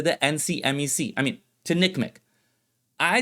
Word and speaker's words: NCMEC: first correction is that I've been pronouncing the acronym for the ncmec wrong the person who gave me the info told me they don't call it the ncmec in their business they just call it nickm the other correction I